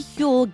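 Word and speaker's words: Huel: Grabbing my Hule Black Edition saves my mornings.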